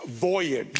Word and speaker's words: voyage: The accent's on the first syllable. It's voyage.